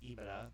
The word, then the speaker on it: EBITDA: You'll see it EBITDA, EBITDA, just pronounced EBITDA. People just make a word out of it.